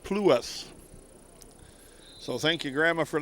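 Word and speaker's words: Pluss: L U SS and she said that's pronounced plas.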